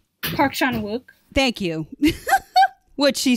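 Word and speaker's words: Park Chan-wook: love shanwyn i can never say his name park sean wook thank you what she said um i love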